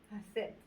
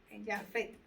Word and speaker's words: Jafet: Y de Jasef salen, de Jasef, yo no sé si lo estoy leyendo, Jasef, salieron las Jafet. Jafet. Así se pronuncia.